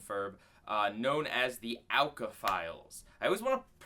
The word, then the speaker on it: O.W.C.A.: of Fin and Ferb uh known as the Ala files I always want to pronounce it OSHA it's it's ala uh this is all about